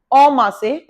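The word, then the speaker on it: en masse: Next one आप 11th, ओमा से, इसे एन नहीं बोलते, ओमा से।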